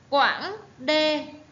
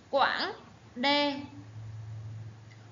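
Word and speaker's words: Quãng Đê: Quảng Đê, các em lưu ý âm an, dấu ngã. Đọc là Quảng Đê.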